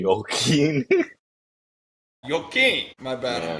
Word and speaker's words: Joaquin: yeah, the Joachim. Yeah, you can say Joaquin. Joachim. My bad. Yeah. I'm bad with pronunciation.